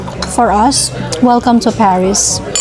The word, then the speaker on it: Paris: Ganon pala ang basa niya no? Paris. Silent S sabi nga ni uncle ba. So par and our order has arrived mga kagala.